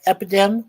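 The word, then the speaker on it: Epideme: One is called Epidem like Epidemic, but it's spelled EPI.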